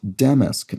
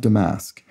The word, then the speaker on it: damask: But the main reason I'm highlighting this comment is that she explains the fabric is pronounced damask, not damask.